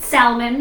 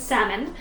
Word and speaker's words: salmon: cuz I'll pronounce it Salman it is not Salman it is salmon you don't say the L sound if you guys aren't